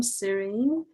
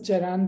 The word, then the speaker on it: Ceren: We actually have one question from Serene. Serene, maybe you can ask yourself. Yes, it's actually pronounced as Ceren, by the way.